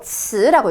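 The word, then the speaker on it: 词: 혹시 요거 성조병음 읽으실 수 있겠어요? 요거 츠라고 읽죠, 츠.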